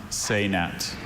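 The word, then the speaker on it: sainete: Are there any alternate pronunciations? Just the one, saynet.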